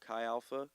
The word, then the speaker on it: Chi Alpha: They met through, I always say it wrong, Chi Alpha, correct?